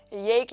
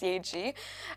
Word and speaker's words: Yae Gi: The amount of Yae Gi that I would hear, it's pronounced Yae Gi, it broke my heart a little bit.